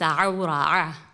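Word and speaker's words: عورة: It's pronounced awra with a deep, I don't know what to call it, like you have to feel it here.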